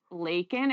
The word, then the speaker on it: Lakin: I'm from a town called Lakin. It rhymes with bacon. Bacon with an L.